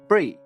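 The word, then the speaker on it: Brie: to note though that my name is pronounced like the cheese Bri not Bri not a big deal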